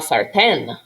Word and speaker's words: sartén: Do you hear that stressed syllable? Sartén. If you say la sartén, it sounds bad.